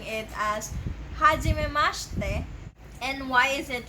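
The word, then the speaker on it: はじめまして: So you may also notice that I'm pronouncing it as hajimemashite. And why is it like that? Japanese has this called vowel devoicing. It is where they omit a vowel.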